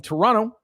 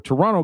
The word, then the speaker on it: Toronto: man and thailand from toronto i just learned that recently that you don't pronounce the t i didn't know that so toronto canada what's going on